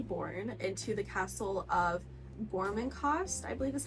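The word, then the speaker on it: Gormenghast: It is centered around Titus, who is a newborn that has been newly born into the castle of Gormencost, I believe is how you say it, which is the castle that all of our characters reside in this book.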